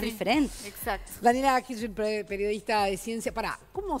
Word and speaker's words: Hirschfeld: Daniela Hirschfeld, periodista de ciencia. Pará, ¿cómo se pronuncia perfectamente tu apellido?